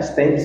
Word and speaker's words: temps: Stemps. Obrigado. Tá. Aqui, ó, sts. O P é mudo.